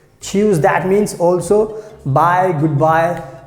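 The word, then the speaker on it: tschüss: h u s s so the pronunciation is very simple choose choose that means also bye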